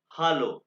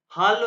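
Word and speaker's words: Hallo: लेक्सियोन वन, और ये है most commonly word in German language, ये है हालो। हालो ये हेलो नहीं है, हालो है, हालो।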